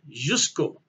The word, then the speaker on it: Ožujsko: to pronounce that just i believe the o is silent jusko now the only thing